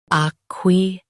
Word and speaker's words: acquiesce: Acquiesce. Both US and UK have the same pronunciation of this word. Stress qui. Keep S soft and clear.